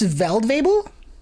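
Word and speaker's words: Feldwebel: It's pronounced Veldwebel? Oh! The guy's name? Right, because in German, F's are V's, right? Like Volkswagen, you'd say Volks, F's are V's, and W's are something else.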